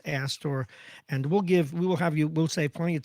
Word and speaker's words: Astor: Is it asked or Aston, the name of the group? Astor, ASTOR, Oh, okay, Services for got it.